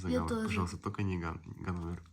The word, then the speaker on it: Ганновер: Ганновер, да, Ганновер. Ударение правильно, Ганновер.